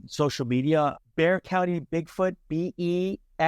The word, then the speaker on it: Bexar: Bexar County Bigfoot, Bexar. It looks like Bexar, but it's not. The X is silent.